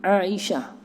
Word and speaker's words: Aisyah: kita disuguhi sebuah Aisyah Aisyah sebenarnya bunyinya ada kain Aisah Aisah Aisah Aisah kita Aisyah kalau Aisyah dia ejaannya adalah Alif Iya cinta Aisyah Aisyah main Alif Kalau tulisannya begitu koma Isya oke dikasih Aisya Aisya Ta Oh iyalah sayyidatuna Aisyah